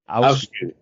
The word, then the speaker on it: Afsky: I know Mercury is Volkesong, and Afsky, yeah, I think you have to pronounce it for me. Afsky.